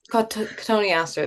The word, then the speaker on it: Cotoneaster: From Michelle, any advice for dealing with I can never say this, I forget how to pronounce it. Cotton Easter. Cotoneaster. Cotoneaster, there we go.